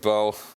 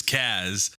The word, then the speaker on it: Caz: All right, Bo. Hey, it's not Bo. His name is Kaz. You spell it C-A-Z. With a fantasy apostrophe. With a yeah. There is none. It's just C-A-Z.